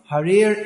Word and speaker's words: Hari: Rig Veda to Yajur Veda, Sama Veda Piyatarvanaha, Adhitas Tena Yogtavyam, Harir Ityatra Samvayam. That whoever pronounces these 2 syllables, Ha-Ri, means that just